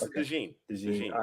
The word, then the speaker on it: DeJean: It's DeJean. They pronounce it DeJean.